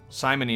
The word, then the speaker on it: simony: fissures in the rock simony is the sin of I think it's simony like the name yeah like Simon like Simon the guy who committed simony yes the sin of